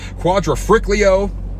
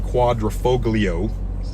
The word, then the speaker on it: Quadrifoglio: the alfa romeo stelvio quadrafriclio it's not how it's pronounced but that's what i call it i believe it's actually the quadrifoglio sorry for that but